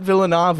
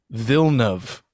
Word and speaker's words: Villeneuve: And like, his last name is not Villeneuve or Villeneuve. It's Villeneuve.